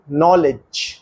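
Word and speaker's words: knowledge: एच ववर घंटा के नॉलेज ज्ञान पी न्यूमोनिया पफ की सूजन आपने देखा कि इन शब्दों के प्रथम अक्षर का शब्द में उच्चारण नहीं होता अब इन शब्दों का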